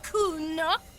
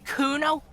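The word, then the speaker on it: Cuno: me to nick it kuna no i didn't it's kuno say it right say it like it said anyway kudo doesn't do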